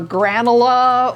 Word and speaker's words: Granula: Granola or granula or, you know, I just no. But we know that Dr. Jackson named it Granula. That line over the U is important.